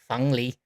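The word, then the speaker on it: 凤梨: The correct pronunciation in mainland China, in Beijing, would be fènglí. However, that is a word used in Taiwan, and they make it more of an O sound, so they would say fènglí instead of fènglí.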